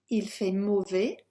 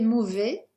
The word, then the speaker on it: mauvais: Moving on, you have il fait mauvais, it's bad weather. We'll just highlight that S there because not pronounced.